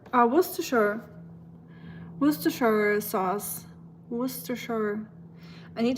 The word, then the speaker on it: Worcestershire: Worcestershire, let me help you pronounce it like Worcestershire. Worcestershire.